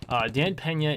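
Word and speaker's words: Dan Peña: who is I finally figured out how to pronounce it Dan Pena is the 50 billion dollar man he lives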